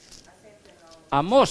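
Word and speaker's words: Amós: Amos, con acento a la primera vez. Amos, sí, acento en la O dice, ¿no?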